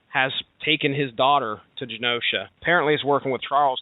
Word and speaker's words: Genosha: Now the setting here is they're in Genosha or Genosha. I'm going to pronounce it with a soft G. They're in Genosha.